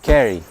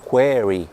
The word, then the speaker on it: query: E aí, nesse caso, o correto é query.